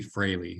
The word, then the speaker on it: Fraley: And I want to introduce Froley. Is that correct? It's close. I know it doesn't look like it, but it's actually Fraley is how you would pronounce it. Fraley.